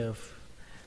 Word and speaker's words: of: Các bạn cứ lưu ý cái chữ of, mặc dù nó kết thúc bằng âm F trong cách viết, nhưng mà trong cách đọc thì nó là kết thúc bằng âm V.